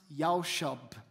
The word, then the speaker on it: yashab: Now, the Hebrew word for dwell is a word which is pronounced yashab.